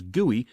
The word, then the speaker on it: GUI: GUI stands for graphical user interface. A GUI, which some folks pronounce as gooey, is exactly what it sounds like.